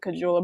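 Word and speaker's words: Kahun: o'connor's the horn or cajula that is how you say it that's not how i was saying cajula before but that is live and learn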